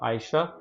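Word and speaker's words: Ayşe: जाएगा Zahra moving forward ये Turkish name है इसके स्पेलिंग आपके सामने है इसको प्रोनाउंस किया जाएगा आयशा और लास्ट बट नॉट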